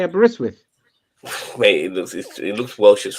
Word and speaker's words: Aberystwyth: Oh, you didn't know how to say Aberystwyth?